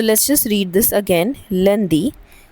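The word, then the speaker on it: lundi: सो लंदी।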